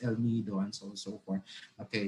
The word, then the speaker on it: El Nido: do you say that oh it's okay it's el nido and so so forth okay there will be